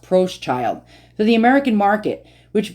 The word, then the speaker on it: Proschild: bear and approached child okay so it is pronounced Pros child so the American Market